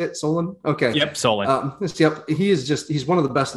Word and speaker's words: Solon: Yep, Solon.